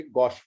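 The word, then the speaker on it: gauche: 300 को आप कहेंगे गॉश फॉर्म। कुछ लोग गॉश प्रोनाउंस करते हैं, कुछ गॉच प्रोनाउंस करते हैं, जैसा आपके स्कूल में बताएं।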